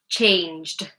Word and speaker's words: changed: Changed, changed. Because it ends in juh, change, change. Juh, juh It's a voiced consonant.